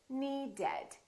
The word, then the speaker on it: needed: The word need ends with a D. So we say needed. We add an extra syllable.